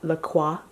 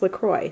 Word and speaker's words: LaCroix: of me saying is look it was Lacroix Lacroix which would be the correct French pronunciation but the company has actually said that it's pronounced Lacroix so it's still as fancier to say the